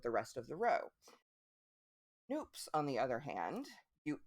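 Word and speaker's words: nupp: bobbles they are called noobs they're spelled n-u-p-e um but it looks like nup it rhymes with Loop according to the the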